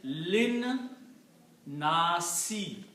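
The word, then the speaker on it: لِلنَّاسِ: But when you combine together, you do not pronounce this alif. This lam combines with the noon.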